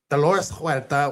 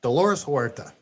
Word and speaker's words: Dolores Huerta: Alongside Dolores Huerta, Chavez Dolores Huerta? Why do you say it like that? Why I mean, just you don't need to do the accent. Dolores Huerta. Dolores Huerta.